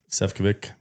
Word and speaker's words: Sefcovic: We got uh Sephik. Did I pronounce that right?